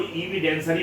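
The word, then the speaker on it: evidentiary: proper custody रहे और एंड इवेंशियरी यह इविडेंसरी है जो इविडेंसरी है इसको इविडेंसरी प्रोनाउंस करेंगे इविडेंस से बना है इविडेंसरी वैल्यू का मतलब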